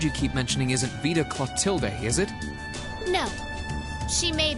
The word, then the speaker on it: Clotilde: So that's how you pronounce her name. I could never fucking pronounce weird names like that. Lady Clotilde. I probably would have said something like plot glide or some shit like that.